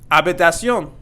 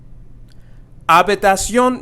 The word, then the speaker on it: habitación: Habitación. Habitación means room. And here we have the H here. So again, that's going to be silent. So it's not going to be habitación, but it's going to be habitación.